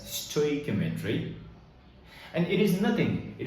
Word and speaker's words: stoichiometry: Now, few other persons might pronounce it differently, but I usually pronounce this as stoichiometry.